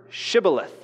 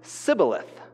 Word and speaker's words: Shibboleth: and they would say, pronounce the word Shibboleth. And it says that those who were from Ephraim couldn't pronounce it properly, and they would only say Sibboleth.